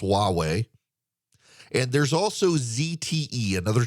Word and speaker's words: Huawei: telecommunications company that uh starts with an H not a w it's pronounced Huawei and there's also ZTE